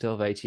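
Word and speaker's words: Eluveitie: I think Amon Amarth are on there, Elvati are on there, and they all like go like, "Oh, Elvati, you don't pronounce the U, it's just Elvati."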